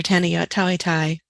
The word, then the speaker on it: Tanayott Thaweethai: and make sure that you have an accurate pronunciation for each of their names Dr Pinder Singh Dr Tanya tawitai Dr Andrea folks and Dr Simon partha sathi